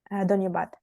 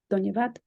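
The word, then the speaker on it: धन्यवाद: Dhanyabad. Dhanyavad.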